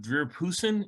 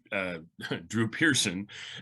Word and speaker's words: Drew Pearson: talking about that's right drew pearson and mispronounced the name and then it became this kind of running joke about how he couldn't pronounce the name correctly and so forth and